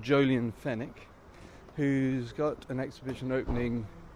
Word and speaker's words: Fenwick: up um and uh his name's jolian fenick spelled like the store f n w i c k and what jolian